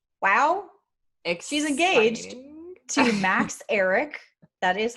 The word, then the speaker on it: Ehrich: demi lovato's engagement wow she's engaged to max eric that is how you pronounce it apparently um it has been like